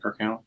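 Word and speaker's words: Kirk Alyn: You had George Reeves, Christopher Reeves, Kirk Allen. Am I saying that right? Kirk Allen.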